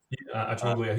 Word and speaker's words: Acemoglu: There's I think it's a political scientist or an economist out of Harvard, Darren Acemoglu. Is that how you pronounce his name? Acemoglu, he's at MIT.